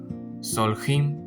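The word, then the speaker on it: סולחים: sea presente y la yod y la mem al final, ese sonido im, es lo que le da el plural masculino a las palabras hebreas. Entonces, aquí se lee como soljim.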